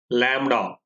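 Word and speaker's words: λ: So this symbol is pronounced as lambda and is measured in terms of centimeters, millimeters, angstroms, micrometers, nanometers.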